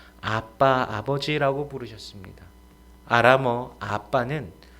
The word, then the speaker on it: 아빠: 가지는 기도하실 때 요 아빠 아버지 라고 부르셨습니다 아람어 아빠는 우리말로 아버지 아빠 입니다 발음도 이아람 을 그대로 누리가 따라하면 요 아빠 빠르게 하면 아빠가 됩니다 자녀가 아버지를 부르는